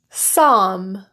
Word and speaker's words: psalm: Alms, Bach, bomb, calf, calm, chalk, kernel, could, embalm, folk, half, Lincoln, Norfolk, psalm, palm, qualm, salmon, should, solder, stock, Stockholm, talk, walk, wood, and yoke.